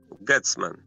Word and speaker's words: Gethsemane: Gethsemane. Gethsemane. I think it's like jessamine.